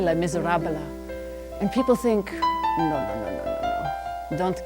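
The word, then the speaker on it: Les Misérables: Now, how many people have found themselves trying to speak French and they add 2 or 3 syllables like Les Miserables? You go to France and you say Les Miserables and people think, no.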